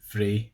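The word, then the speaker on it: frae: 23 is frey or fey. Fey is probably the more common one, if you ask me. So F-R-A-E, frey, or F-A-E, fey.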